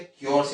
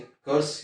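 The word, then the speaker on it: curse: तो यहाँ पर क्या, क्योर्स यानी कर्स, यानी क्योर्स पढ़ते हैं, कर्स पढ़ते हैं, both the pronunciation are correct, दोनों ही प्रोनाउंसिएशन यानी कि उच्चारण ठीक है।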